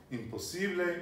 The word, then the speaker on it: imposible: So on the penultimate syllable is where you always stress. And in Spanish, you do not stress on more than one syllable. And on anything that ends in a vowel, it's always the penultimate syllable. So in this case, importante is importante. Imposible is imposible. It's not imposible.